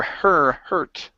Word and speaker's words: hurt: Okay, give me an ER sound here instead of hot. Okay, it's her, hurt.